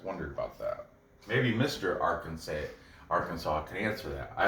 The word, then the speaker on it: Arkansas: to call it bryce mitchell fighting out of arkansas it's not our kansas ebays it's called it's pronounced arkansas but anyway because he goes in his show he was like uh bruce mitchell out of our kansas if it's i don't know why did they